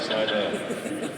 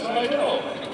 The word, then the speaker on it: Slidell: Oh, don't say it like Slidell. It's all good. Slidell.